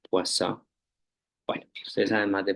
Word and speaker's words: Poisson: Eh, la pronunciación es más interesante, saben, es como francés. Creo que la N no suena, Poisson.